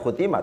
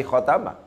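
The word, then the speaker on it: خَتَمَ: awal2 kushiro makeblast it bacaannya adalah putih bukan Khotimah tapi kotama karena Demikian maka Kotamadya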